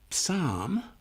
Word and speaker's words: Psalm: For example, the PS in Psalm that may help us make the word easier to recognize next time because it makes this word different to others. The silent letters are helpful even if they're silent.